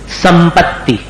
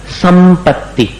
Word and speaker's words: संपत्ति: सीख सको ठीक है और म जैसा उच्चारण कहां होगा? संपत्ति। देखो आगे जो प है ना प का उच्चारण अपन कैसे करते हैं? दोनों ओठ को मिलाकर प। तो दोनों ओठ को मिलाकर करते हैं। तो अनुस्वार को भी उसी में जोड़ना पड़ेगा। संपत्ति तो म जैसा हो गया।